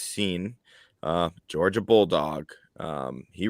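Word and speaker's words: Cine: and louis lewis seen it looks like it's signed but it's pronounced scene uh georgia bulldog um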